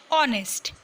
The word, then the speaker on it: honest: The consonant H at the beginning of are and honest is silent.